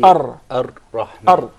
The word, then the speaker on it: Ar-Rahman: So say, Ar-Rahman. Actually, you pronounced several Ra. It wasn't just one. It should said be Ar-Rahman. Ar. By the way, this is a very difficult letter, even for many of the Arab.